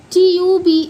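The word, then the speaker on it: tube: जैसे टी यू बी ई इसे हम ट्यूब पढ़ते हैं।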